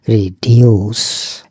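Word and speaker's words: reduce: রিডিউস। এই রিডিউসের উচ্চারণ খেয়াল করবেন। এটা রসুকার হবে না। দীর্ঘকারের মত হবে। দীর্ঘকার মানে কি? আমাদের টানটা একটু লম্বা হবে।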